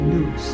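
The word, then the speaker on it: nous: endowed with Divine intelligence which they call New or something people pronounce it noose n o u s the Divine beings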